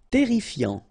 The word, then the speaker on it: terrifiant: Terrifiant, final T not pronounced, double R here, so it will open the pronunciation of your E, and then it will be E, terrifiant. Résistant, final T not pronounced, résistant.